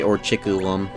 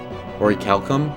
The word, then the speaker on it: orichalcum: Orichalcum. Is Orichalcum... How do you actually say it? I don't even care. At least it didn't say Orchiculum.